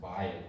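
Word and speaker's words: בית: happen like even within the word like uh by it right so this this is pronounced by it when it's by itself it means house but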